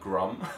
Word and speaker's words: grim: like, oh, this is grim. This is so grim. This is grim. And if you're slightly posh, you might pronounce it slightly more like grum.